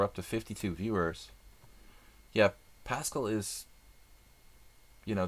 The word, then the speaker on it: Paschall: Yeah, Paschall is, you know, the pronunciation of it isn't pure French. I mean, the spelling of it is not pure French. It's a bastardized version of Pascal. But the history of it I'm not really 100% sure of. And people, you know, different people might even pronounce it differently.